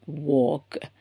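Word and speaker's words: walk: Jump அப்புறம் வாக். சோ இந்த டோக் அண்ட் வாக் நம்ம வந்து எல் வந்து நம்ம ப்ரோனௌன்ஸ் பண்ண போறது கிடையாது சரிங்களா உச்சரிப்பு கிடையாது எல்லுக்கு சோ டோக் வாக் சோ டாக்னா நம்ம பேசுறது வாக்னா நடக்கறது.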